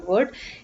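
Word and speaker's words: वह: it's written as but the pronunciation is wo for both of them so when these words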